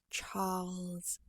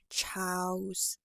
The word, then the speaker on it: Charles: is easy enough then let your tongue come up a little bit to form the l sound so Char Char and finally take on the z sound for me Charles Charles I would venture